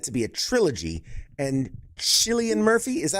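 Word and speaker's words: Cillian: And Chillian Murphy, is that how you pronounce it? Chileian. Silian. I say I say Killian.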